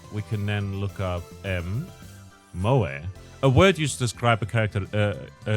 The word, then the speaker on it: moe: Also used to refer to a culture of entertainment centered around characters who possess such traits, pronounced Moe.